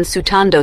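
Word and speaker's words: スタンド: the term is written as stand yubo when sutando sutando with purigana to change the pronunciation of what literally means ghostly Ripple ubo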